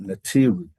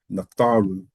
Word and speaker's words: Natharu: not being mistranslated, but those who were trying to pronounce it from the hieroglyphics termed it Natiru, which then became nature. Netaru, yes. Yeah, so it's nature, Natiru, but it's really Natharu, referring to our overseers.